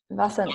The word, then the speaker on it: Vasant: Vasant Lad.